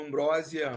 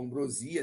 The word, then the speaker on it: ambrosia: Os deuses alimentados por ambrósia ou ambrosia, dependendo de como se fala, eles podiam tomar a aparência de velho.